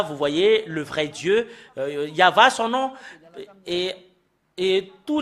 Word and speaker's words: Yahvah: sont enlevés de l'original normalement ça doit être yava que qu'on doit le prononcer bah ça a changé en y avait Jéhova ou you B alors